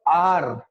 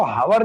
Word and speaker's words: hour: HOUR is what? आर, है ना? इसको हावर नहीं बोलेंगे, कुछ लोग बोलते हैं ना हावर, बड़े हंसी के पात्र बन जाते हैं लोगों के बीच, है ना?